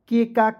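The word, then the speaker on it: kick: और सी से भी क होता है और के से भी क होता है। तो एक ही क का उच्चारण करेंगे ना जी। तो किक हो जाएगा।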